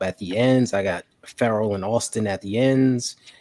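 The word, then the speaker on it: Ferrell: It's actually Farrell. Yeah. Cleveland Farrell. Yep. Farrell. Like referral. Making a referral. Feral cat.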